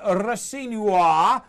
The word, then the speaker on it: Rosenior: I'm in the studio with John Cross of the Daily Mirror and Leroy Rosenior. That's the way you pronounce it, if you know how to pronounce your surnames.